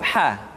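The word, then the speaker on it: ح: jiananija berikutnya adalah huruf ha huruf ha dikeluarkan dari tengah-tengah tenggorokan tengah-tengah tenggorokan ha hi hu Bah kesalahan yang paling sering ketika mengucapkan huruf ha adalah seringki terpengaruh dengan huruf ha perhatikan latihan berikutnya nih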